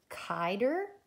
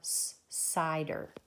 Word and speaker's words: cider: It's either going to be kider or cider. Cider.